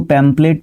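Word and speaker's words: pamphlet: रखना है यहाँ पे, इसको है ना हम लोग बोलते पैम्पलेट हैं, इसको पैम्पलेट बोलते हैं, पैम्पलेट लिखा जाता है, ये एच जो है यहाँ पे आपका बोला नहीं जाता है, ठीक है, ओके।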